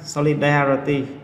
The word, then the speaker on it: solidarity: Âm tiết số 3, solidarity. Đấy. Solidarity âm tiết số 3.